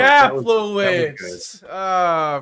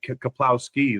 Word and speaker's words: Kaplowitz: Kaplowitz, you got it close. Kaplowitz. Man, I blew it. It's got a couple syllables.